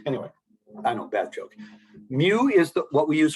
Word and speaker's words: mu: that you know and it's spelled mu and it's it's what a cat says a lot of you don't realize your your cat it speaks greek yeah because is that why cats say mew anyway i know bad